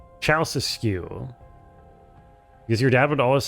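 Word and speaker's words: Ceaușescu: It's pronounced Ceausescu? Ceausescu.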